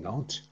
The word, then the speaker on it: Nantes: coordinator, Jean-Jacques Derrien from Nantes, without S at the end. You know, in France we like to have letters which doesn't have a special role, so you don't pronounce.